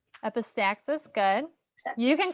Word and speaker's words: epistaxis: Epistasis. Epistaxis, good. You can call it epistasis, that's fine. I won't judge you. What'd you call that? Epistaxis.